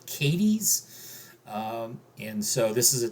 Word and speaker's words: Cádiz: So this was all in the city of Cádiz, or as the locals around here pronounce it, Cádiz.